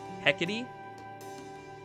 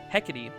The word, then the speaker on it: Hecate: before it's gonna piss me off if i mispronounce it heckety the that is definitely not how i was going to try to pronounce it hecate my mansion is just up ahead along with